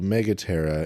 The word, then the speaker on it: Megaptera: So Megaptera, and that's Ptera.